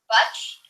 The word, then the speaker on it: Butch: How do you pronounce his first name? Butch Hartman. Butch?